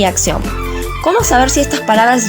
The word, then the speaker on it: acción: En el caso de acción, la sílaba tónica es la última, termina en ción. La palabra es aguda y las reglas dicen